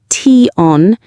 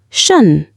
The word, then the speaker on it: -tion: In English, this ending is never pronounced t on. It's always pronounced shun. A sh sound followed by a weak schwa vowel and an n.